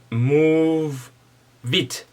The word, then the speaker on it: Moovit: One very good app I also want to suggest for transportation is using one second, Move Vit. It's spelled as Moovit.